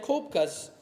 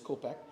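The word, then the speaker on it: Koepcke: a look at Julianne Kopka's story, she has a book that she's put out. So there's Vesna we were just talking about. Here's Julianne Kopek. I pronounced her name wrong, but it's Kopek.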